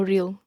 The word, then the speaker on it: real: even though it isn't really north-south many places. El Camino Real runs right past Stanford University and so is familiar to hackers. The Spanish word real, which has 2 syllables, /real/ means royal.